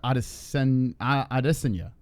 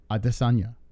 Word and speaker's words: Adesanya: Adesanya, right? That's how you really say it. Israel Adesanya.